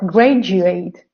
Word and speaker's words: graduate: Yeah, or schedule, but not schedule, or procedure, or graduate, or individual.